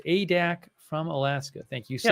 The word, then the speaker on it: Adak: Nick Klein, who says it's pronounced Adak from Alaska.